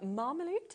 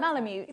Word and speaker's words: Malamute: So this one is the Alaskan Marmaloot, is that how you pronounce Malamute.